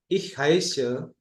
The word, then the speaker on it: heiße: Nah, Bapak Ibu bisa perhatikan seperti huruf B ini, SZ ini ya, SZ ini itu sebenarnya double S. S-nya itu 2 kali. Ich heiße itu nama saya.